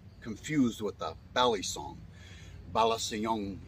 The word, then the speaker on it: Balasiong: with the bali song balasayong is how you pronounce this particular one I figured what I'll